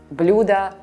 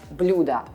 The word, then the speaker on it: блюдо: Some words, like блюда, in both singular and plural forms, sound absolutely the same. Блюдо, блюдо, but are written differently.